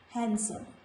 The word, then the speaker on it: handsome: There are some more words in which letter D is silent irrespective of being before letter G. So these words are handsome. We should not say handsome. This is not handsome. This is handsome.